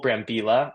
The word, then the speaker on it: Brambila: We're joined by Nicole Brambila. Yes, I believe I pronounced that correctly.